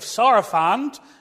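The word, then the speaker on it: Sarafand: beneath the modern uh uh fishing Village of sarafant that's how you say it in in Lebanon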